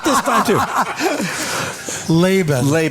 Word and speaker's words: Labin: Labin. Labin.